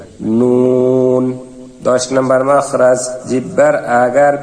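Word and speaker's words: ن: 9 নম্বর মাখরাজ, জিহ্বার আগা তার বরাবর উপরের তালুর সঙ্গে লাগাইয়া নুন। উচ্চারণ সময় ঠোঁট গোল হবে এবং জিহ্বার আগাটা উপরের তালুর সঙ্গে লাগবে, নুন।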